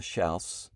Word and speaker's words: Schaus: Lauren our daughter and um her name's Joanna sha hopefully I pronounced that right she'll tell you in a